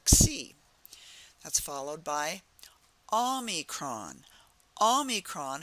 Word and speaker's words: Omicron: Omicron has the ah sound. It's that soft ah. It's not the hard O, it's the soft ah. So repeat after me. Omicron.